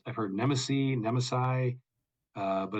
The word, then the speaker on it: Nemesi: heard it's I've heard nesy nemesi uh but it's it's the Hungarian pronunciation so like okay yep